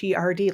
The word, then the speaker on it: Cowherd: been pronounced differently, but it's Cowherd, like he was a herder of cows.